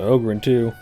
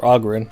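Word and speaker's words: Oghren: go and talk to Oberon - or Ogron I guess I just had to pronounce it properly talk to him you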